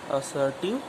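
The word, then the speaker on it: assertive: Vowel sound है, इसलिए यहाँ पर आर का प्रोनाउंसिएशन नहीं होगा, हो जाएगा असर्टिव सेंटेंस, ठीक है।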